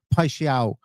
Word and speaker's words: Paixão: Um this podcast we are going to talk about uh we're going to talk about Igor Piao is how how you pronounce it. I'm almost certain.